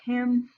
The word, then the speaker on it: calm: Words like care, share, and scarce are pronounced with a long E sound, and calm is pronounced like cam.